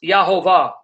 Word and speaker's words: Jehovah: modern rabbinic scholarly sources that the name is pronounced Jehovah so that the rabbi's have always known the